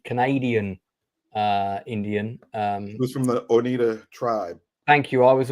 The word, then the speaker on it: Oneida: Who's from the Oneida tribe? Thank you. I was about to mispronounce that. So, Leroy, I'm glad you're here. The Oneida tribe.